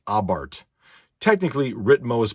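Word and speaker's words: Abarth: is a center console for a fiat ritmo abart now this and it's yes it is pronounced abbard technically ritmo is pronounced i prefer that but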